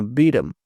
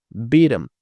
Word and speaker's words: beaten: Então aqui ele pronuncia o T, mas não pronuncia o H, ficando beaten, beaten, beaten senseless.